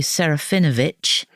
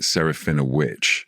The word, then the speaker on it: Serafinowicz: I mean, I pronounce it Saraphina, a witch, like a wicked witch.